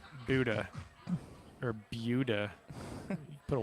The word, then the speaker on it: Buda: Amarillo College from Buda, Buda. Texas. Mr. Tello is. I always appreciate a nice pronunciation of that town. Because I think I told you last good time. stuff. I say Buddha.